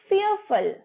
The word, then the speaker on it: fearful: Very afraid को आप बोलेंगे fearful, fearful, र साइलेंट रहेगा और फुल नहीं बोलेंगे, fearful.